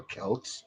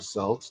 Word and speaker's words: Celts: was Celtic Society well those were the Celts or Celts depending on which pronunciation you uh you choose and they pretty much